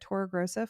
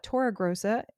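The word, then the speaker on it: Torregrossa: If you have a question you can shoot me a DM uh either at Tora Grosa Fine Art. That's my personal main business Instagram account. Uh, Tora Grosa, just so you know, is spelled T O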